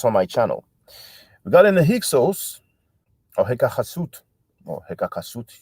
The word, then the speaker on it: Hyksos: Regarding the Hyksos or Hekachasut or Hekakasut, you don't want to pronounce that H, which is like the Spanish Jota. It's a sound that we don't have in English.